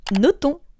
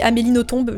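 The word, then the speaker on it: Nothomb: Et oui, il s'agit bien de Amélie Noton. Fun fact, je disais Amélino tombe jusqu'à très longtemps.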